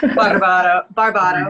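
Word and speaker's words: Kaylee Barbato: And today we are able to feature an artist named Kaylee Berbarto. Kaylee, you can pronounce that correctly for me if you can. Barbato.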